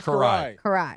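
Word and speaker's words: Kiraly: Well, I didn't know Hungarian. They don't have L's. Did you know that? I had no idea. Well, they have them. They just don't pronounce them.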